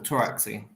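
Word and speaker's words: Pteraxii: It's a silent P, like pterodactyl, Taraxi.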